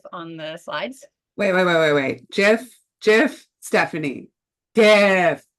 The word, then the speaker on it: GIF: tidying up, as you can see from the GIF on the slides. Wait. GIF, Stephanie.